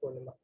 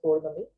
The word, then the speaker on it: Purnima: on the day of Purnima. Okay, in the south it is known as Purnami, but that's how you spell it.